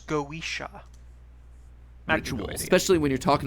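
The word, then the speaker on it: Goetia: boss and you know we prefer to be pronounced the Irish goisha actually especially when you're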